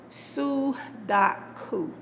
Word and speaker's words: sudoku: should be pronounced su it's a japanese word you see but that's how it's spelled s-u-d-o-k-u sue dot coo i want to explain